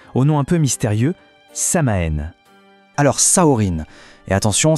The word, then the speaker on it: Samhain: nom un peu mystérieux Samaen. Alors, Saorine et attention, ça se prononce Sain, c'est important.